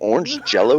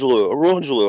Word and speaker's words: Orangelo: I'm like, "Is your name orange jello?" He's like, "No, no, it's orange." Orangelo.